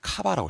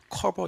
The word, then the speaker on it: 커버: 그래서 이걸 읽을 때 어떻게 읽어야 되냐면 카바라고 읽어야 돼요. 카바. 어떻게 읽는다고요? 카바 이렇게 읽어요. 커버 이렇게 읽는 거 아니에요, 여러분들.